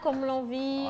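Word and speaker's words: Komlavi: Comme l'envie s'écrit K, O, M, L, A, V, I. Mais moi, j'ai dit Comlan.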